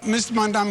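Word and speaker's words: Mamdani: And furthermore, the name is Manni. M A M D A N I. You should learn how to say it because we got to get it right. Mandami is right.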